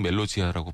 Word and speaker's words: Melodia: 다른 계절이라는 의미의 팀의 멜로디아 멜로디아 포르투기로는 멜로지아라고 발음하는 것 같더라구요 그래서 멜로디라는 의미의 곡이고요이